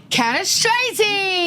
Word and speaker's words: Cannistraci: Cannistraci.